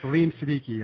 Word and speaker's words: Saleem Siddiqui: Oh, thank you so much for being with us, and I hope I got the pronunciation right on the name. I did my best. Yep, that's absolutely correct. Saleem Siddiqui. It's not that hard.